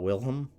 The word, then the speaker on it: Wilhelm: However, the term originated when the German Emperor, I want to say it's pronounced William, I know it's not, Wilhelm the Second, gave a speech to his troops on the 27th July 1900 before they embarked to China.